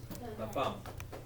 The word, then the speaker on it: femme: There's no accent, so that's a silent E. So just la femme.